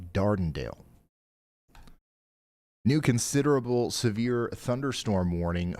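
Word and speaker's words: Dardanelle: Okay, so y'all just pronounced all of that wrong. It's not Sidelia. It's more like Sidelia. And it's not Dondale. It's a little bit more like Dardenale.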